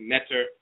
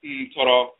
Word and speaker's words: Ntoro: the words, like NTR, they think it's Netter. And of course, it's actually Ntoro in the Akan tradition, Ntoro.